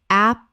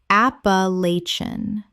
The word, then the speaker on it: Appalachian: Appalachian. Correct pronunciation. Appalachian. 5 syllables with the stress on the third, and the ending collapses.